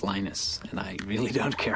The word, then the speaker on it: Linus: Linux or Linus what's the exact your preferred pronunciation um when I speak Swedish it's lenus when I speak Finnish it's lenus when I speak English it's lonus and I really don't care how people pronounce